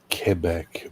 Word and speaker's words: Quebec: pronounced cuc thank you very much it's actually pronounced kebec but yeah that's what I was going to